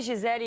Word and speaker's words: Gisele: No, you say Gisele in Portuguese because we say I in the end of the L.